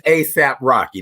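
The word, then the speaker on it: A$AP Rocky: an eight dollar saying it's it's asap rocky that's how you say it right yeah thank you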